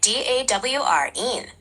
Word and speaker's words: Doreen: You're right, it's pronounced more like DAWREEN. The E sound at the end is a bit longer than you might think. Would you like me to say it so you can hear it? Yes, of course. Please. Sure. So it sounds like DAWREEN, with a bit more emphasis on the first syllable.